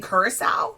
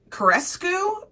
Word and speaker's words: Ceaușescu: I keep saying Curacao, like the alcohol. Ceaușescu, perhaps?